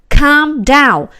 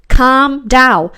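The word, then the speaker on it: calm down: นะ คะ ก็ คือ คำ ด้าว come Down ข้าม ใน ตรง นี้ นะ คะ ไม่ ต้อง ออก เสียง L นะ คะ คำ ดาว เพื่อ นำ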